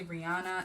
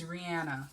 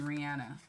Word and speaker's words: Rihanna: People say Rihanna. It's Rihanna. It's actually Rihanna.